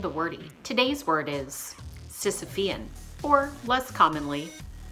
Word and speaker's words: Sisyphean: the bad and the wordy today's word is Sisyphean or less commonly so sip e'en we are going with the first pronunciation according to the merriam-webster dictionary the adjectives